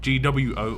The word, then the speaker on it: Guo: I'm pronouncing that right it's grow as in gwo almost as the pronunciation I do mess up